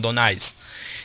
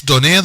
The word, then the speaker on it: Donais: I think it's Donais the way you pronounce it. It's French.